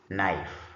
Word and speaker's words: knife: So from the examples that we've just read a few a few minutes ago, you notice that uh from the words there are some letters that are not pronounced.